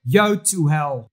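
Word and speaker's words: Yotuel: is a brand that is very difficult to pronounce it is Yo to hell and of course there will be a link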